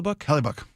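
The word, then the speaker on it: Hellebuyck: Connor Hella, he's the am I pronouncing that last name right? Hella. Helbuk.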